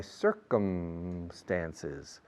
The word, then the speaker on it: circumstances: Ortega y Gasset said, I am myself and my circumstances. My circumstances, sir. Yes, sir. The first syllable, cir in Espanol, is pronounced the same as sí, señor.